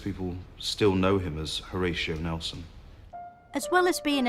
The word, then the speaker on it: Horatio: Lord Nelson all about why did his parents call him horos Shaw I think they probably intended it to be pronounced Horatio but it just got Mish